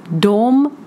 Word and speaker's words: dem: at 2 words, because we have personal pronoun dom, which is translated as they, and objects pronoun, which is dom, and it is pronounced the same. So if I would say the sentence they see them, it would be dom ser dom. It is said the same, but it will be written different way.